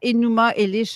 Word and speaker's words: Enuma Elish: Enuma, je ne sais pas si je les prononce correctement, Enuma Elish, la Genèse babylonienne, dictionnaire C'est correct.